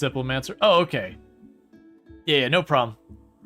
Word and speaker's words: Diplomancer: Just make a joke how it's pronounced. It's Diplomancer.